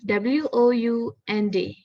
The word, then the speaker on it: wound: So the first picture, yes, we pronounce it as wound. So wound is an injury to the body, while wound is a past tense of the word wind.